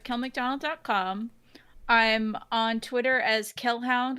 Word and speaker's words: Kelhound: I'm on Twitter as Kelhound, which is spelled like Hellhound but with a K.